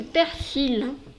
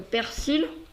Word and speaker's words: persil: mais le reste c'est très bien c'est la prononciation du persil on le persil et plus tu es dans